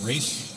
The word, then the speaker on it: Ralph: Our next piece of music is entitled English Folk Song Suite by Ralph Vaughan Williams. Rafe, depending on who you talk to. My clarinet player says it's Rafe. I say it's Ralph.